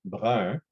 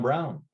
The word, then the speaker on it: Brun: I know my last name, Brun, is hard to pronounce. Brun in English is Brown. So quite often people will just say, you know, Brown, because they can't pronounce Brun.